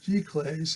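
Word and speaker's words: giclée: of this exact reproduction it's called glick g-clays if i'm pronouncing this frankly french word where you actually see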